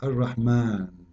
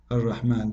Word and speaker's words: الرحمن: So if we say Ar-Rahman in the Quran, it's coming the alif very short, but you hear me pronouncing the alif, Ar-Rahman. Ar-Rahman.